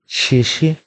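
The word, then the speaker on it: 谢谢: তো এটা হচ্ছে আপনার চাইনিজে বলে শেষে, শেষে, শেষে, শেষে, শেষে মানে হচ্ছে থ্যাংক ইউ। শেষে, শেষে, শেষে, আই হোপ উচ্চারণটা আপনারা এইভাবে বারবার শুনে এবং প্র্যাকটিস করে এটা করে নেবেন।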